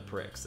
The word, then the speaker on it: Prix: Oh, the X is silent in Prix?